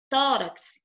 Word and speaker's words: tórax: Quando eu falo aqui, ó, tórax, qual é a última sílaba dessa palavra? Hein, Radassa? Qual a última sílaba dessa palavrinha aqui? Tórax. A última. Ó, tórax. Tórax. Então, a última sílaba é essa aqui, ó, urax. Tá vendo? E aqui, o tó é a penúltima. Então, como o tó é a penúltima, ela é chamada de paroxítona.